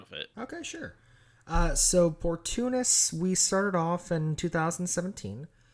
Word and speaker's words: Portunus: But you said it right, Portunus.